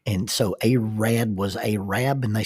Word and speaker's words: Arad: It is pronounced Arab, not Arab. Arab, Alabama. It was supposed to be Arad, Alabama, A-R-A-D, and the postmaster flopped that letter over.